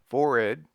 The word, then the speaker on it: forehead: Pronounce as if written, forehead, waistcoat, and primer.